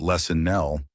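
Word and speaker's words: LessonL: Lesson Nell, that's the framework here, pronounced lesson Nell, focuses on the teaching part.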